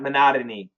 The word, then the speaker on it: monotony: No, we do say mahogany, but not monotony. So no flap T on that one.